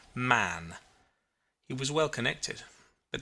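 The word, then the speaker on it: Mahon: white long beard and his name was mohan but he insisted that it should be pronounced man he was well connected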